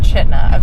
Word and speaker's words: Chitina: Cooper we're in chaa what is it chna chitina chna CH I'm pretty sure it's pronounced chna according to what look at it Hotel chut